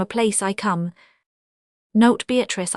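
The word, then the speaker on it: Beatrice: Note, Beatatrice, I use this word as it is, pronounced in the Italian as consisting of four syllables of which the third is a long one revisited with joy.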